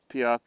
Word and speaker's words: Piok: And then, so Piok is heard as buck sometimes because the P's soft in the middle, because you add a syllable and the P becomes a B.